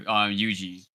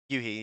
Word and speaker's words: Yuji: Team Space and hopefully, please tell me I pronounce this right as well too. Yuji. Yuhi, yeah. Is Yuhi? Yuhi. He's a Spanish player.